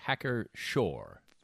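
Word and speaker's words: Hacker-Pschorr: Do you pronounce the P? I don't think so. I would say Hacker Shore.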